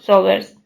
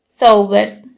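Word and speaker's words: Saubers: Como casi todo el mundo, a excepción del sñr Rickers, Billy pronunciaba su apellido Sobbers. En lugar de Sobers, pero ¿qué más daba?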